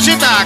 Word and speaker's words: Sità: All'organetto Massimo Diano, al tamburello Domenico Sità con l'accento sulla A.